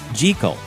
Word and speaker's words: Jekyll: scottish surname is really jikel stevenson borrowed the name from his good friend famed british horticulturist gertrude jikel common conjecture states that the choice of this name that rhymes with seek all is a clever bit